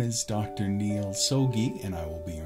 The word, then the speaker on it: Soggie: name is dr neal sogi and i will be your instructor for this course if you're ever wondering how to pronounce my name it is soggy so just think of a stogie cigar and if you ever